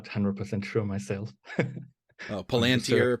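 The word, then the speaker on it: palantír: not 100 sure myself palantir palantir yes according to Sir Ian McAllen it's palantir but in my mind it's always palantir like more german-ish but because whatever you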